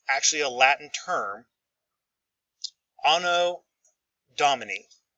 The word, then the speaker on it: Anno Domini: Anno Domini is how you pronounce it. Anno Domini.